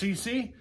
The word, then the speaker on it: Seesii: It is, I believe this is pronounced CC.